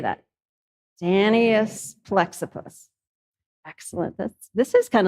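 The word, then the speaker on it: Danaus plexippus: the name wrong but the typical way to pronounce the Latin name of the butterfly is danas plexus so everybody say that danus plexus excellent that's this is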